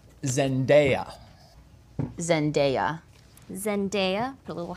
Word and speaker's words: Zendaya: Zendaya. Zendaya. Zendaya. Put a little hat over there. Oh, look at that. Zendaya, like opposite of night.